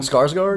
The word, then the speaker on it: Skarsgård: Skarsgård.